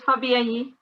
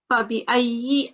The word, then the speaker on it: فَبِأَيِّ: No, it's Fabiayi. Allah Rabbikuma Tukaziban. Yeah, so it's ayi. You need to make sure that you do pronounce the kasra very openly as well. So Fabiayi, and then you need to prolong on the big mud here.